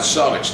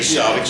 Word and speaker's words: Celtics: yeah, I mean, I hate the Celtics. Well, team the Celtics. It's Being an Irishman, it's Celtics. So get it right, Boston, not Celtics.